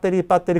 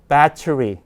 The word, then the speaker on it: battery: 자, 우리가 배터리 그러지만 실제로 이렇게 안 읽죠? battery 굴리면 battery 그렇게 됩니다.